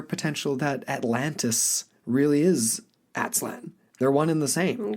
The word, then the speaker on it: Aztlan: The other thing I wanted to just touch on again, because I mentioned it close to the top with Aztlan, I keep mispronouncing it, Aztlan, is this kind of adjacent association or naming, if you will, with Atlantis.